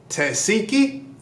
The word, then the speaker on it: Tesehki: Tesehki?